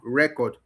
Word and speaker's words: record: Is when it is a noun, record. is stress on the first syllable. But when you record something, which is a verb now, action, like the act of recording, it now the stress goes to the second syllable, which is the verb version.